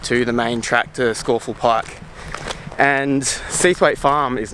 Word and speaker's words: Scafell: So you have to pass through this adorable little farm called Seathwaite Farm in order to get to the main track to Scafell Pike.